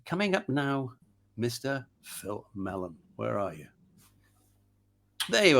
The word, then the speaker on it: Mellen: Is it pronounced Mellen or Mellen? Mellen. It's Welsh in origin. My father's Welsh. Is it? And apparently it's the Welsh equivalent of Miller.